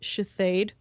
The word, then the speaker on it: Shithead: Or Shithead, which is pronounced Shithade.